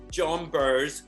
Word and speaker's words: Jonbers: And I was like, no, it's two syllables like yours, Jonbers, RuPaul.